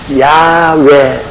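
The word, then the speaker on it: Yahweh: 우리 하나님 아버지의 선함도 가장 정확한 발언이 뭐냐면 야외 하나님 야외 근데 야외 하나님을이 영어로는 미국이나 영국 사람들 영어로는 재호가랍니다 그 발음을 그들은 재호가 한국 사람들은 여호와 일본 사람들은 애호박 이런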